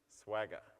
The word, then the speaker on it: Swagger: way of doing it Swagger okay if you can't remember it it rhymes like with MC Jagger I've got little girls